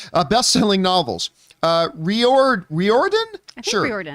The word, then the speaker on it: Riordan: author Rick rhodians I don't know how to pronounce his name uh best-selling novels uh reor Riordan Riordan an executive producer of the series announced the